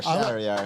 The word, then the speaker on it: Shariar: Rhymes with caviar, Shariar.